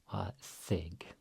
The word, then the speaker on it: þig: Here we have the thorn, which is devoiced. So it's like thunder, thig.